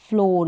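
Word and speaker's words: floor: है फ्लोर क्या है फ्लोर यहां पर ओ करके यानी डबल ओ का उच्चारण हो रहा है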